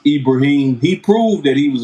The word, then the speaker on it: Ibrahim: homeboy and that's abraham the same abraham of your bible is in arabic is pronounced ibrahim he proved that he